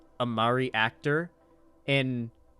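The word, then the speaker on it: Māori: No, it's pronounced Maori. I've heard, okay, the only place I've ever heard it pronounced is Australians and New Zealanders, and they pronounce it Maori.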